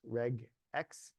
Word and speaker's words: regex: RegEx should be pronounced RegEx.